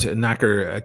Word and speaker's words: knacker: But knacker, KN, is it KN? A-K-E-R? I think you spell that word. I think I always say it's like knock on your door, right?